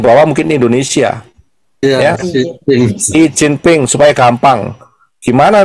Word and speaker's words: Xi Jinping: Xi Jinping, Xi Jinping, Xi Jinping.